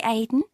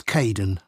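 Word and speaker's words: Kaeden: Hi Aiden. Uh, it's Kaden.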